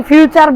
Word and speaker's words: future: ফুটুরি বলেছে সেও জানেনা ইংলিশ ভাষায় শেষে ঋতা উচ্চারণ হয় না তাহলে এখন আপনি ফুটুরি বলেন ফুটুরি আর বলতে পারবেন না অন্তত ফুটুর বলবেন আর ইংলিশ ভাষায় টি